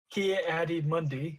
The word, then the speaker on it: Ki-Adi-Mundi: I don't know how to say his name ki-adi-mundi there we go qui-gon jinn Anakin Skywalker Darth